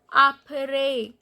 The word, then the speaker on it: après: Apre means after. So these accent grave on E and the pronunciation is apre low back.